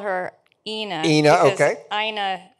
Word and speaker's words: Ina: call her enochina okay Aina rhymes with vagina oh that's right uh